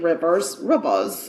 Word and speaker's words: Reivers: So Olivia, I'm going to say her name is Rivers, but it could be Reavers. It's Reivers, but I'm saying Rivers.